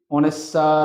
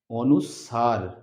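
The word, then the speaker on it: অনুস্বার: এটাকে অনেকেই অনেস্বার, অনুস্কার, ভিন্ন ভিন্ন রকম ভুল ভ্রান্তি করে উচ্চারণ করে। এটা হচ্ছে অনুসার, লিখে রেখেছি অনুসার।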